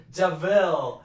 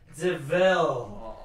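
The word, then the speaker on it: De Vil: Of them goes, actually, it's pronounced Deville. And at the end of the film, Cruella goes, I'm Cruella Deville. And then the guy comes up and he goes, but it's spelled Devil.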